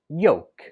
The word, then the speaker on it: yolk: 16 is tricky because it has a silent letter. When we spell it, we write it with an L, but when we speak it, we do not pronounce the L at all. It's just pronounced yolk. Yolk.